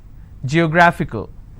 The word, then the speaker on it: geographical: Geographical. How many syllables do I have? Geographical. Now this fickle is coming up to 2 syllables, right? But this will still be combined as word ending, and this is the stress.